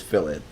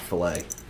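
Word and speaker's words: fillet: so here's the cat fill it like phil okay it seems like the consensus is fill it there's fill it not filet so this is bibbles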